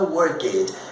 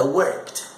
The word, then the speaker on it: worked: Preste atenção, você nota que eu não pronuncio o E.